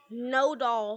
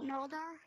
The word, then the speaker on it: Nodal: No doll. No dar? No doll. No, not no, no dar. Doll.